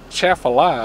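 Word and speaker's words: Atchafalaya: That's chaffalaya.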